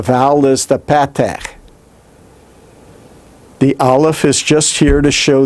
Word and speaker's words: aleph: placed below the consonant notice that the aleph is not what's giving you the sound here aleph itself is silent we're only using it to show what the vowel pointing is the vowel pointing is what we're actually considering right now the aleph itself makes no sound it is the vowel